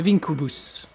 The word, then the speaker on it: Vinquibus: The Vincubus. If you pronounce it properly in classic Latin.